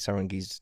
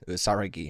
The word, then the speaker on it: Saragi: Saragi, I've been saying his name wrong. There's no N.